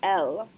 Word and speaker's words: elle: like il s'appelle became elle s'appelle. So il a quel âge becomes elle a quel âge. Elle and quel rhyme with each other.